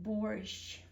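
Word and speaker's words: борщ: So borscht, B-O-R-Sh, like sheep, and then you also make it even softer. Sometimes in this kind of instances, it's more added for symbolism. And so in this instance, you pronounce this sound very, very softly. Borscht, borscht. Usually it's sh, and here you like sh. You kind of make it like even longer. Borscht. The softest you can pronounce.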